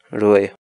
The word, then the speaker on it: ruray: serious videos where we teach you how to pronounce certain words in Quechua so our word of the day for today is really really really in English the Quechua word really